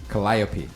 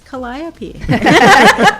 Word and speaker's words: Calliope: her best you know how do you say your daughter's name callie cat but the full name calliope calliope yeah okay cause malcolm always because i say it wrong and he's like it's calliope puts you in check